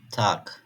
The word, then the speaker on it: Tag: "Bitte , Affe , Hase" G harfi kelime sonunda genellikle K gibi okunur. Örneğin "Tag".